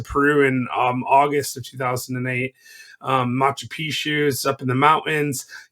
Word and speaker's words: Machu Picchu: weird so here you are in the moment machu picchu am i saying it right yeah which i